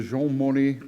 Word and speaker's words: Jean Monnet: Richard has supported the Jean Monnet, did I get the pronunciation right?